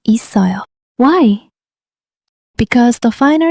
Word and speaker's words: 있어요: It's written 있어요, but it's pronounced 있어요.